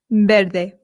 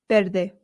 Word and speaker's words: verde: Now remember I told you that the V in Spain makes a light B sound ver. However, in Latin America it does make more of the English VV sound. So if you want you can say ver.